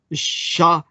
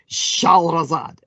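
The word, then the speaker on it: شهرزاد: For instance, basically her name in Arabic is Shahrazad. Shahrazad, and Shahrazad is known to us, of course, as Scheherazade.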